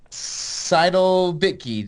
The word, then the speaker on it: Seidel-Bittke: Her name is Seidel-Bittke.